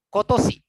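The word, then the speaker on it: 今年: tadi saya mau tahu tahun ini bacanya apa ya Sensei? Kotosi. Tahun ini yang kotak biru, yang Kotoshi.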